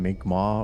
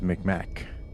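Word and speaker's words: Mi'kmaq: I think they've changed it to closer to the uh like indigenous pronunciation, Mic Ma, or something like that. But back in the day, it was Micmac.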